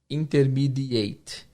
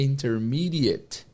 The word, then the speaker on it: intermediate: Muitas pessoas pronunciam e acham que vão ouvir intermediate. Intermediate. Na verdade, não. Na verdade, a pronúncia dessa palavra é intermediate. Intermediate. Intermediate. It. Esse AT no final tem o som de it.